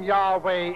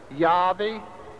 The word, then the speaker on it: Yahweh: We ourselves think the form Yahweh is nearer the true pronunciation.